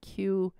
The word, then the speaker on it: QAnon: Q-anon. Yeah, QAnon. Q and then anon.